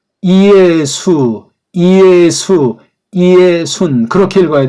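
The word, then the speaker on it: Ἰησοῦν: 발음 한번 해볼까요? 이에수스, 이에수, 이에순 그렇게 읽어야 돼.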